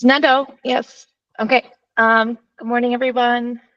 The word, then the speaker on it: Nadeau: Or is it, how do you pronounce it? It's Nadeau.